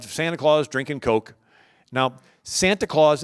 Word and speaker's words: Santa Claus: Now, Santa Claus is the Dutch pronunciation of St. Nicholas. So the Dutch, they call it Sinterklaas or Sant Nicolaas. If you say Sant Nicolaas a couple times, Santa Claus, right?